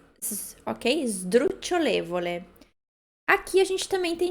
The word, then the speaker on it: sdrucciolevole: Então, o S a gente não pronuncia esdru. É como se tivesse um izinho ali. Ok? Sdrucciolevole. Aqui a gente também tem de novo o cho, né? Sdrucciolevole.